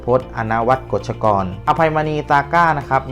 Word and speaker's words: อภัยมณี ซาก้า: ซาก้ า นะ ครับ ไม่ มี พระ นำ หน้า นะ ครับ อ่าน ว่า อภัย มณี ซาก้ า นะ ครับ ข้อ มูล